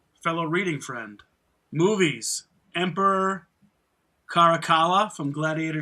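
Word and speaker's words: Caracalla: reading friend movies Emperor Carakala from Gladiator 2. Yeah. He also has pronunciation too. Was that right? Yes. Yeah. The Latino has a hard C.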